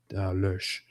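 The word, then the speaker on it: Loesch: I mean, I know the correct way in German would be Lush, but how do you actually, as an English-speaking person, say her last name?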